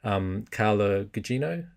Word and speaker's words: Carla Gugino: And then you had him mirrored by Carla Gugino. Is that how you pronounce her? Yeah.